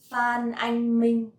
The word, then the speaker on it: Phan Anh Minh: For example, Phan Anh Minh. Phan Anh Minh. This one is a little bit easy to pronounce because it has no tone at all.